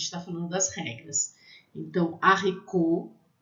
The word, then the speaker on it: haricot: A letra H, né, o H, não se pronuncia em francês, muito parecido com a gente, né? Então, lê haricot, haricot, feijão. Esse T é mudo no final, tá? Haricot.